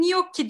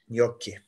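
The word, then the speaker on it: gnocchi: Evet şimdi ikinci yemeğim yok ki diye okunuyor yok ki Evet resmin en alt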